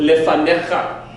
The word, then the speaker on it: lefanecha: So before you, but instead of the emphasis moving to the last syllable, the emphasis is moved to a middle syllable.